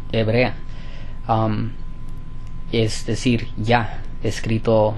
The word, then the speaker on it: Yah: Ah, sí es correcto que que la pronunciación adecuada es ya escrito y ah, h, pero esto ha esto